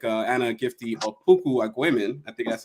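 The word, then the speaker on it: Anna Gifty Opoku-Agyeman: This person as well, like Anna Gifty Opoku Agwemen, I think that's how you say her name.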